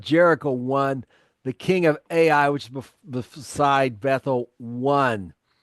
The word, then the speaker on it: Ai: Ai, or high really in Hebrew, but we'll go with AI, the pronunciation people usually use.